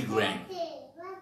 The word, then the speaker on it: Graham: Trump dizendo a pronúncia, não é nem Billy Graham, mas a gente costuma chamar Billy Graham, né? Mas é Billy Graham.